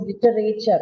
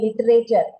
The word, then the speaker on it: literature: See, the word is not pronounced as literature. Okay, I have heard many people pronounce it as literature. What are you studying? I'm doing my MA in literature. It is not literature, it's literature.